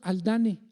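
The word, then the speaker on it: Haldane: dos hermanos los hermanos aldane así se escribe con h aldane muchos le dicen aldan o haldan les pueden decir estos dos hermanos eran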